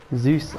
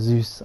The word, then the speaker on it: Zeus: that's not my fault oh right no wonder zeus is i've said that wrong let me zeus that's how you pronounce it according to greek myth this temple